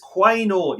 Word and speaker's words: Quaynor: A big shout out to Joey Giacomazzo, who corrects me and says Quaynor is how you say his name, Alex Quaynor.